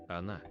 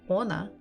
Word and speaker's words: она: So if I'm not sure, I try to stress the first letter and I say ona. Ona. Она. Ona doesn't sound like она. So definitely not the first syllable. Она. Она. Она. So we stress Она. the second one.